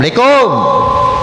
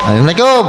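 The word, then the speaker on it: Assalamualaikum: Kalau ada orang ngomong asalikum asalamualaikum kan begitu ya.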